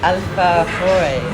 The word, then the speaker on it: alfajores: So tell me about the alfajores. Yeah, that's perfect pronunciation.